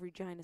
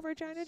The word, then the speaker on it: Regina: Prince Albert Roller Derby League, Swift Current, and Pile of Bones Roller Derby, based out of Regina, Saskatchewan. Oh, in Regina, the word that rhymes with fun.